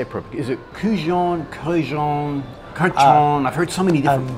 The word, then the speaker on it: Kurkdjian: Is it Kurkdjian? I've heard so many different breeds. Maison Francis Kurkdjian. Kurkdjian.